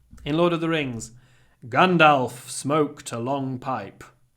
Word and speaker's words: Gandalf: Lord of the Rings Gandalf smoked a long pipe it's not Gandalf it's gandal what's that about anyway